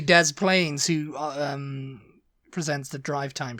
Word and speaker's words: Des Plaines: de planes de plane it's probably Des plis illino but it's really Dez Plains who um presents the